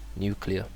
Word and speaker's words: nuclear: And many people might think, oh, it has nu. It's like nuclear, like a number. You have no, but this one is nuclear.